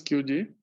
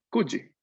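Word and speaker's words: 九時: No es QG. En cuestión de horarios, el número cambia de pronunciación. ¿Ku? ¿Cómo? ¿Ku? ¿Kuji? No. Kuji.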